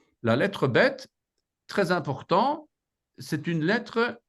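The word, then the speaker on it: בית: deuxè lettre la lettre bête la lettre bête très important c'est une lettre dite explosive elle elle se prononce comme notre B et il y a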